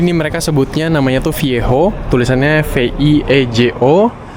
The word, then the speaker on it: Viejo: Jadi ini mereka sebutnya namanya tuh Viejo, tulisannya V-I-E-J-O. Kalau J itu kan di bahasa Spanyol tuh dibacanya H.